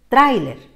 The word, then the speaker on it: tráiler: como no nos gusta hay que acentuar en cuál de las vocales en la a porque queremos que el diptongo siga unido trailer que continúe siendo de dos sílabas fíjate muy bien que